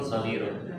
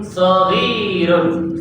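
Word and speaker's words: صغير: Saghirun shad fathah, ghain kasrah, ya sukun ra dhammatain.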